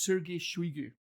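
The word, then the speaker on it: Сергей Шойгу: current russian defence minister uh his name is sergey shuigu uh i i know that's not how you spell it but that's how you pronounce it that's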